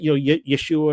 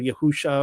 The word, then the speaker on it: YASHA'UA: Remember, like, you guys get this, like when we try to pronounce his name correctly, I say YASHA'UA now, but it's like, Yeshua or Yahusha or whatever.